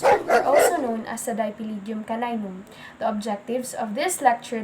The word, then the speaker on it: Dipylidium caninum: This parasite is known as Dipylidium caninum, pronounced as Dipylidium caninum, which has many common